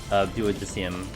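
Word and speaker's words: Duodecim: Man, I love the combat of Duodicium. That's how you say it.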